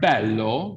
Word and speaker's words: bello: for example technically okay you have the word bello which means beautiful that vowel is open right bellow but if you